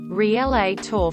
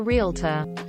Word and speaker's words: realtor: didn't work out and I called it relay tour for realtor Bagel maybe doesn't totally